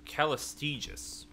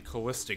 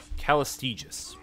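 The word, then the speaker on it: Callistege: Cullis Teague I believe callused aegis callused aegis so I've been saying Calista this whole time hmm and because that's how it's spelled yep I one of my MPC's said her name hmm calloused Aegis so those two when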